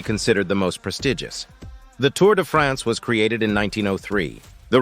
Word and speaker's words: Tour de France: to France French pronunciation tour to France English Tour of France is an annual men's